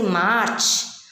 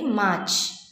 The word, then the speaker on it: march: We don't pronounce our this it t. We don't stress too much. We'll say march. We should not say march. Okay, we have to say only march.